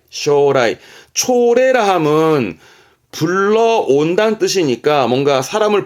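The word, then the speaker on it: 招来: 했었습니다 복습하세요 초청 쇼세 쇼세 초래 그죠 초래 발음은 쇼라이 쇼라이 초라함은 불러온다는 뜻이니까 뭔가 사람을 불러온다에서 뭔가를 상대방을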